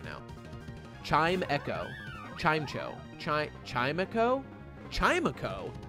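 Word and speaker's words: Chimecho: that's not allowed not in trumps America it's pronounced chime Echo I I know I figured it out I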